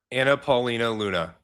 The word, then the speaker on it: Anna Paulina Luna: Is it not Anna Paulina Luna? Is it Anna Anna Anna Paulina Luna.